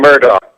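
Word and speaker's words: Murdaugh: talking to to Murdock is it Murdoch or murder it's spelled like murder you're saying murder I know that's all the documentaries I've watched that's what they how they pronounce it it doesn't look like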